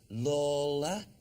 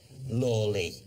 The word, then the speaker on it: Lawley: George Lawler or Lawley? Lawley. Richard, it's in that Lawley.